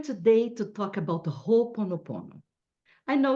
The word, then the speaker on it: Ho'oponopono: we are here today to talk about the whole ponopono I know it's hard to say and we say wrong so many times and one day we start saying right but the right pronunciation is whole oponopono and I'll tell you all about what it